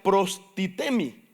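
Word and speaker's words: προστίθημι: Y esa palabra, según el griego, se pronuncia prostitemi.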